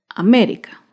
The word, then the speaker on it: América: Otro claro ejemplo es la palabra América. América se acentúa en la antepenúltima sílaba. América.